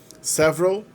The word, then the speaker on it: several: Several, só tem 2 sílabas aí.